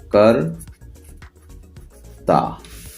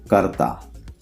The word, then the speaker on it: कर्ता: और इसका प्रोनाउंसिएशन क्या है? प्रोनाउंसिएशन है कर्ता। देख लीजिए, कर्ता।